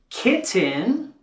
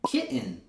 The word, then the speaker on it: kitten: Notice how I'm not saying kitten or kitten. I'm saying kitten.